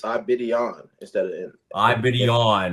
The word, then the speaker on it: Aigbedionon: Omar I Betian um joining us now. I like how you say it Omar. I've heard you say your last name. It's more It sounds more like I I Betian when I've heard it.